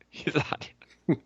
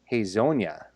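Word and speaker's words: Hezonja: Hey guys, I just want to chime in and say it's pronounced Hazonia. Then the J comes off as an I.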